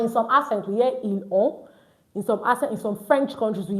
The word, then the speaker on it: ils ont: We use ils ont, they have. Please, no ils ont. Don't pronounce the T.